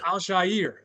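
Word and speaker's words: Al-Shaair: CJ Stra, Nico Collins, Aziz, what how do you pronounce his name again? Al Al Shier.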